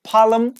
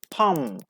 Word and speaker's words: palm: answer and number four it means palm okay not el palem no palm silent l before M and after a like palm palm that's great next one